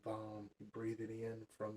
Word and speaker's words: VAM: And then you breathe the energy back up into the chakra below your belly button, the orange one, and you pronounce V-A-M, VAM.